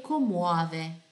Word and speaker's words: commuove: Benvenuto a un pianto che commuove. Lembra di pronunciare cada lettera, certo? Commuove, commuove.